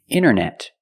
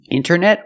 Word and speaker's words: internet: is n n when you see NT a lot of times you don't hear the T example Center of course